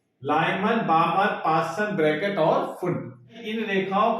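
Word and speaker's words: Pfund: English में इसको पी फुंड लिखा रहता है, तो पी साइलेंट होने का हिंदी में उसको फुंड श्रेणी ही कह देते हैं।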